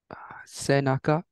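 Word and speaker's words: 背中: Senaka.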